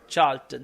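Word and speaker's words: Charlton: बाद seats up टू 100 correct answer is चार्ल्टन सी एच ए आर एल टी ओ एन अब यह वो spelling है जो काम बंदे को नहीं पता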